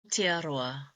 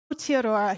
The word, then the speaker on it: Aotearoa: And the proper way to say New Zealand is Aotearoa. Aotearoa.